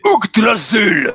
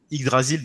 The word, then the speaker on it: Yggdrasil: Le Y se prononce U en norrois, et oui, les amis, donc même moi, quand je vous dis Yggdrasil, c'est pas vrai, c'est Ougdrasil.